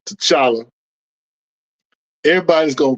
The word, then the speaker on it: T'Challa: without the te Kevin without the te so his name the pronunciation of his name is Chala so are you saying